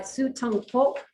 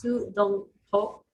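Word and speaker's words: Su Dongpo: The first written in 1079 by Su Tong Po, and I know I pronounced that incorrectly. I'm gonna try it again. It's Su Dong Po. Bob is, yes, good, I got it right this time.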